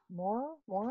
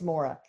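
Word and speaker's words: Maura: Moira, M-A-U-R-A, how do you say that? M-A-U-R-A. Moira? Moira? Yeah, maybe it's Moira. Yeah, that's it.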